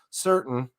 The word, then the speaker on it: Surtin: He was wrestling number 12 Noah Certain, and that's spelled Surtin, just so you're certain.